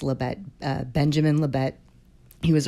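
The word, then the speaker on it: Libet: I believe it's pronounced Leette.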